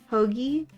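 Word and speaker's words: アホ毛: How do you pronounce it? If it isn't the consequences of talking shit. Exactly. Hoagie?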